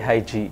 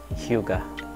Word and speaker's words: Hyuga: Madalas sinasabi Hygie, pero ang correct pronunciation nun is Hyuga.